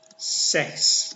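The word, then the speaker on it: sechs: 6 itu dalam bahasa Jerman itu seks, masih ingat ya, seks. Jadi ini cara bacanya.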